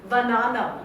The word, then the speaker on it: Vananam: Vananam, or rather actually it's pronounced Vananam, right?